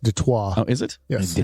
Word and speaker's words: Detroit: like how you know it's french it is like chris benoit that's right yeah chris